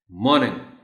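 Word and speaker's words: morning: तो are, tell them are is silent, और इसको बोलना है मॉर्निंग मॉर्निंग.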